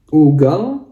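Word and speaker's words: угол: kedengaran ya perbedaannya teman-teman ini ugal ya ugal ya ugal penekannya di u maka kita bacanya jadi a yang huruf u ini ugal nah tapi kalau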